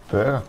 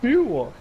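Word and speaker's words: Berger: It's called Buer. Oh, Buer. Oh, that's easy to pronounce. But it is B-E-R-G-E-R, which is very Buer. Close to burger. But it's Buer.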